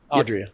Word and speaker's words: Adria: I want to make sure I pronounce her name right. Adria? Adria.